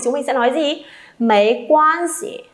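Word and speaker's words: 没关系: Mấy quan gì? Thanh nhẹ nhá, thanh nhẹ cho tôi các bạn ơi, đừng đọc là mấy quan si, nhỏ nghe nó sẽ không hay, kém sang.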